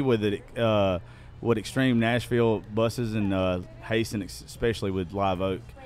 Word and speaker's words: Hasen: and Miss Tiffany with Extreme Nashville Buses and Hasen, especially with Live Oak. It's Hasen. I hate his fucking name. I love him. His name's hard to say. Hasen. But I always keep saying Hasten.